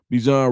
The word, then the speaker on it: Bijan: And so did D'Angelo Malone, Bijan Robinson, or Bijan. Not Bijan, Bijan is how he said to pronounce it.